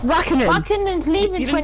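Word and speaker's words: Räikkönen: No, it's Raikkonen.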